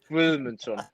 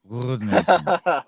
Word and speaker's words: Guðmundsson: Guðmundsson. Guðmundsson.